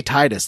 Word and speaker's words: Titus: Because I want to say Titus like title, So do I. but it's not.